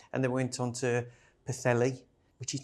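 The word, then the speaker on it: Pwllheli: And then went on to Pthelli, which is not spelled like how you say. None of the none other places are. Ptheelli.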